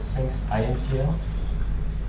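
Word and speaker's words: sphinx-intl: I said Sphinx INTL.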